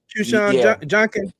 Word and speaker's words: Quinshon Judkins: Yeah, it's pronounced Qshawn Junkin.